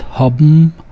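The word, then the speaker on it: האָבן: Note that haben is not pronounced haben, but haben and gegeben. So the N sound changes to the M sound.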